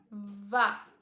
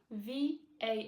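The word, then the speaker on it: vas: so we've got to VA v a s you don't pronounce the S do not pronounce the S just VA that's all VA to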